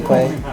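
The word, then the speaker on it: Kwe: be up at Quay. Art by Quay. Art by Quay? Yeah. Okay. But primarily Instagram, Quay, or Twitter at Jesse_Quay. And Quay is spelled K-W-E.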